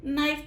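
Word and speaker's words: knife: نائف, ہم اس کو کے کی ساؤنڈ کا نائف نہیں پڑھ رہے بلکہ ہم اس کو نائف پڑھ رہے ہیں.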